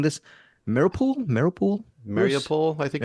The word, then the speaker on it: Mariupol: I think the first lightning round will be Bruce's mini review or just thoughts on 20 Days in, I am mispronouncing this, Mariupol, I think. Mariupol?